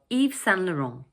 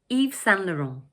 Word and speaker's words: Yves Saint Laurent: And the third word is pronounced 'Laurent'. So all together we say 'Yves Saint Laurent', 'Yves Saint Laurent'.